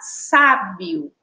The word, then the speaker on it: sábio: E a gente vai agora para a palavra sábio. Vamos lá? Sábio, ó. Nós identificamos que a sílaba tônica é a sílaba sa.